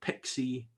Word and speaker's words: PXE: the preboot execution environment sometimes pronounced as pixi the pixie or pixi specification is a standardized